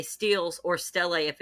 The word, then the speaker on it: stele: Is it pronounced steel? Yeah, I think so. Yeah, steel. STELE. Yeah, I think so. Okay, I don't know why I've always said stelae.